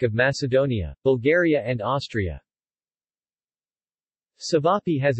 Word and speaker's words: ćevapi: cevapi pronounced t beef pie or cevapcici formal diminutive TV